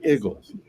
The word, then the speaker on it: Eagles: said the egles Eagles but Philadelphia people do not say eagles they say igles du it's true it's